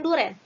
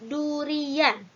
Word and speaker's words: durian: Kita sering mengatakan duren, padahal menurut kata baku dalam Kamus Bahasa Indonesia itu bukan duren, tetapi durian.